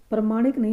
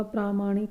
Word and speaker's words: प्रामाणिक: प्रमाणिक नहीं होता। प्रामाणिक होता है। प्रामाणिक। हम आमतौर पर प्रमाणिक बोलते रहते हैं लेकिन अशुद्ध उच्चारण होता है। सही क्या होता है? प्रामाणिक।